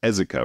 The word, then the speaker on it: Ezeka: I think even though you just told me how to pronounce it, it's Ezeka, right?